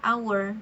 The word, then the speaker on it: hour: Karena bunyi vokal dari our huruf ee bunyi vokal ya. Betul. Nah, jadi meskipun dimulai dari huruf H tapi dibacanya itu adalah our jadi silent age.